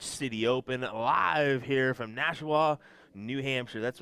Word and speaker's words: Nashua: the 2022 which city open live here from Nashua New Hampshire that's right I said it right